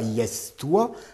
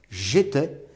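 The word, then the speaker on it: iestois: Ne le prononcez pas I-S-toi, parce que personne ne l'a jamais prononcé I-S-toi. On prononçait j'étais, et on écrivait I-E-S-T-O-I-S.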